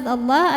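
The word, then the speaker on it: الله: Lam pada lafaz Allah atau lam jalalah dibunyikan secara tafkhim sebab huruf sebelumnya fathah, maka dibacanya tebal.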